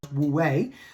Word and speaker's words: Wu Wei: And the flow state, aka Wu Wei, I believe it's called, pronounced Wu Wei, a Taoist principle, which I believe is also